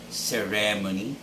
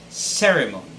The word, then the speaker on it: ceremony: and repeat after me ceremony ceremony third word arabic it's arabic it's not arabic just as most of us would say it but it's arabic the stress should be on the first syllable clear next word is